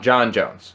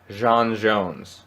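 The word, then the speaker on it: J'onn J'onzz: Because it's not John Jones. It's Jean Jones.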